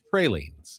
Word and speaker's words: praline: some pralines.